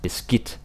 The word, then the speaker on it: beskidt: And the D is silent. It's not beskidt. It's beskidt.